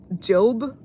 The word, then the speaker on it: Job: And in the middle where I opened it, it was the book of Job apparently, but I think that's how you pronounce it. but it's actually spelled J O B like job.